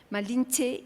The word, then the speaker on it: Malinche: se sufijo reverencial que pronunciado por algún español puede soñar mal y es h española no que chulo malinche y ahí malinche malinches